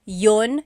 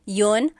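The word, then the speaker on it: iyon: You might hear me saying yun yun as if there's no I and that's commonly how it's pronounced.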